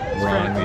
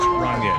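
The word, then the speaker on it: Rainier: Also, I have a Ronier thanks to Tyler. Thanks, Tyler. Keep it classy. That's how it's pronounced. If you're not from around here. Ronier. It's French. Yeah, it's French. Ronier.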